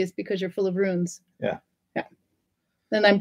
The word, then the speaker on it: Rune: I want to say Runa, but that's a girl. No. Yeah, yeah. No. Rune. Rune. Because the E in Norwegian on the end is spoken and it's pronounced eh. Yeah. In English, it's silent.